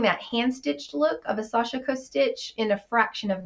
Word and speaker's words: Sashiko: acquired a Sashiko machine, or some say it Sashiko. How do you say it? Sashiko. There you go. Of course, that may be Southern because, I'm Southern, but Sashiko is, I think, how it's pronounced, but we all know,